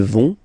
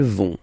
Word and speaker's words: vont: Ils vont, elles vont. Okay, remember, final T not pronounced, so you get this ON nasal here. On, vont.